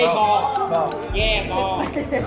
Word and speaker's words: bò: Bò. Yeah, bò. Et pour dire bœuf, on dit "bo". My boy. No, you say it, Say bò.